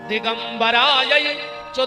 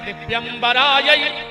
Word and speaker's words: दिव्यंबराय: तो आदमी जल्दी जल्दी में कहते दिगंबराय च दिगंबरायो, जबकि शुद्ध उच्चारण है दिव्यंबराय च दिगंबरायो। मतलब हे माता पार्वती, जिनके